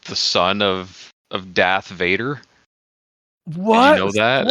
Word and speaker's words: Vader: Though though it's pronounced differently than what it sounds like. The way it's spelled is basically Darth Vader, but the way it's pronounced in Dutch, it's Vader.